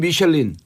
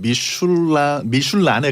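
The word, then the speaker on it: Michelin: 이게 이제 영어로는 미셸린. 네, 영어로는 불어 미슐린이고 발음으로 불어로 하면은 미슐란에 갈까요?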